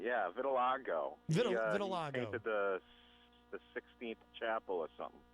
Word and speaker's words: vitiligo: Philbrook says and I'm never sure how to pronounce this vitiligo vitiligo is losing pigment okay Thank You Angela Vanilla's